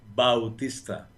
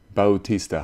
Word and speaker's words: Bautista: like Jose absolutely so hi and then pronounce your last name for me Bautista Bautista Bautista I love that I like the way it